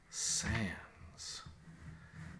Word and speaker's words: sans: Sans. I mean, that could be S-A-N-S. You don't really pronounce the D in sans, really.